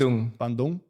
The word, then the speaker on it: Bandung: I love the way you pronounce it. Is that correct? Bandung. Bandung? Is yeah. that correct? That's the way.